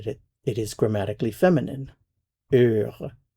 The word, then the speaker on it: heure: heure, heure. Now, heure begins with a vowel sound because the h is silent.